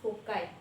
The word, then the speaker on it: foci: Always convex lens has two foci. उसका pronunciation होता है foci, which is the plural form of the focus.